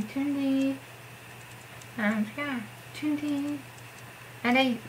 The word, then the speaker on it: Tündi: of nicknames, and that's Tündi. That's how I write it, Tündi. And this vowel is like the French U, which you pronounce as U, or Ituk's name, or Unhyuk's name, and not U, U.